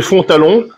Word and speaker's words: Fontalon: Duc de Fontalon, d'accord, Fontalon comme ça se prononce.